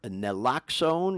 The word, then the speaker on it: naloxone: We've all heard about Narcan, or naloxone. Is that the proper way to pronounce it?